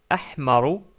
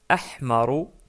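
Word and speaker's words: أحمر: Donc d'abord, le rouge qui se prononce ahmaru, ahmaru.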